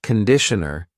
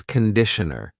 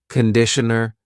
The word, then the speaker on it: conditioner: Be careful of the pronunciation. It's not conditioner. It's conditioner. The first vowel is awa. Conditioner.